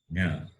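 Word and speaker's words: ञ: And it is pronounced as Nya.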